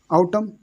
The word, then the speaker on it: autumn: जैसे यहाँ पर लिखो, देखो आउटम लिखा हुआ है, आउटम AUTUM, तो इसको आउटम पढ़ेंगे सिर्फ, ठीक है।